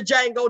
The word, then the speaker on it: Django: Y'all saw the Django, the D is silent.